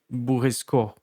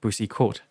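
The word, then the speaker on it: Boursicot: So since the T is silent, it sounds something like um that's a mouthful to pronounce.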